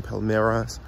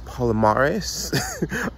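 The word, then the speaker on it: Palmares: I was saying palomares incorrectly I was saying Palmeras so it's Paula Morris in Portuguese um so while the pronunciation is wrong trust me the information is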